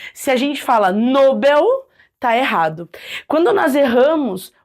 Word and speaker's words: Nobel: pronunciam de forma diferente algumas falam Nobel outras falam Nobel né bom de acordo com a Norma padrão entende-se que a palavra é Nobel foco força no Nobel se a gente fala Nobel tá errado quando nós